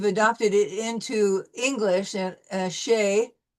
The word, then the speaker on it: chez: We use this, we've adopted it into English, and chez, and we don't use the Z in the English version either.